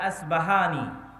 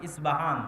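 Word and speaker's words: أصبهان: আমরা প উচ্চারণ করি। ইসপাহান আরবিতে এটা উচ্চারণ হয় না। আরবিতে হয় আল আসবাহানি। বা উচ্চারণ হয়। ইসবাহান বা আসবাহান।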